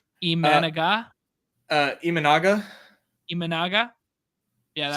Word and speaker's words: Imanaga: Imanaga?